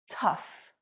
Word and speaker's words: tough: Number 1, O-U-G-H sounds like uff. Enough, rough, tough.